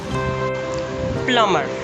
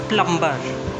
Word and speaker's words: plumber: Again, B is silent because it is coming after M. Plumber, not plumber.